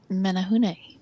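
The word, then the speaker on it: Menehune: And Steph, you're going to kill me because I'm going to pronounce this wrong. Just Menahune. Menahune.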